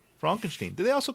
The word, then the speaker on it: Frankenstein: It's pronounced Fronkensteen.